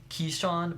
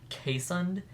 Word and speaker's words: Keeshond: e sh 0 ND which is sounds like keeshond but it's actually pronounced que son and they're really cute and they kind of